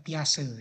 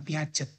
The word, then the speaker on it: Piaget: Ya, Piaget ya, bacanya kata dosen saya Piaget gitu, bukan Piaget ya, Piaget gitu.